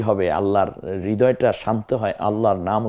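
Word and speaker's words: الله: আপনার সন্তুষ্টি হবে, আল্লাহর হৃদয়টা শান্ত হয় আল্লাহর নাম উচ্চারণে। অতএব সেভাবে আল্লাহকে স্মরণ করুন আল্লাহ। তাহলে প্রথমে শব্দটা হতে হবে আল্লাহ। দ্বিতীয় হচ্ছে আল্লাহ শব্দটির মধ্যস্থিত তাসদিদ যুক্ত লাম, যেটা আমরা দেখতে পাচ্ছি কিছুটা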